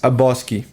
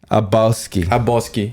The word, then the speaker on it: Habowski: So it's Abowski. Abowski. So you don't really say the W too much.